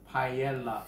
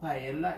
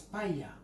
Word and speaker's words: paella: is a master of paella. First thing I want to get out the way, people say it's not paella, it's paella.